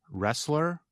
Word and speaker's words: wrestler: word you just heard wrestler R it sounds like the letter R the word has the letter R but it has a silent letter before it listeners what letter do